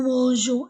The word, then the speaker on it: mangeons: nous mangeons parce que la lettre G avec e I et y se prononce je avec les autres lettres se prononce gu so c'est pourquoi pour